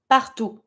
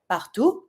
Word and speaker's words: partout: Everywhere, partout. You don't pronounce the last T, it's not a R. You don't pronounce the consonant, that is not a R. Everywhere, partout.